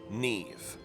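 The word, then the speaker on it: Niamh: said her name was Neve and maybe I'm just unfamiliar with how other languages work or how words came about but the way they spelled it is n-i-a-m-h but it's pronounced Neve based on her accent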